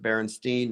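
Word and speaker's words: Berenstain: I pronounce it Berenstein, not Stain.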